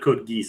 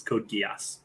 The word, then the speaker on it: Code Geass: yeah it's not good it's not code geese it's Code Geass oh cool it's an